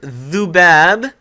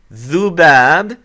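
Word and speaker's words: ذباب: Okay, so in our word dhubab, we have the dhaal, we hear the dhu, not dhu as with a long vowel, but a short u sound. Dhu, dhubab.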